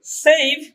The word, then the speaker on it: save: আবার সেভ, SAVE সেভ, এখানে ভি এর জায়গায় উচ্চারণ থেমে গেছে, শেষের উচ্চারণ কিন্তু আসে নাই।